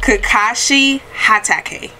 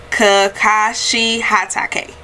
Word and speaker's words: Kakashi Hatake: it is you know here he comes hey kakashi hatake again kakashi hatake that is how you pronounce his name so thank you all so